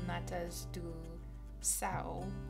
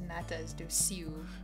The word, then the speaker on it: natas do céu: We were talking about one of my favorite desserts in Portugal, which is called Natas do Sao, but I think I was saying it as Natas do Siu.